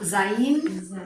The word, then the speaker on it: Zayin: So, but sometimes when it is that consonant vowel, it's not gonna sound like a V at Zayin, Zayin. Z Z, as in zebra.